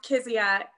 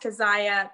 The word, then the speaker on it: Kezia: missionary in Africa, and my name is pronounced Kezia, but it is a Hebrew name that should be pronounced Keziah, but because of his time in Africa, it's Kezia.